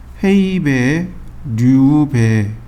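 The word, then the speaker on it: 平米: 해배, 루베라는 단어가 나와요. 해배, 루베. 이거 일본식 발음입니다. 헤이베, 류베이. 헤이베, 류베이. 이렇게요.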